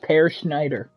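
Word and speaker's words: Peer Schneider: Per Schneider. His name is spelled Peer. Yeah, it's pronounced Per Schneider.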